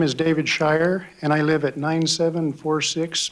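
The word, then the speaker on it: Scheuer: My name is David Shy and I live at 9746 Bennett Road, Nampa.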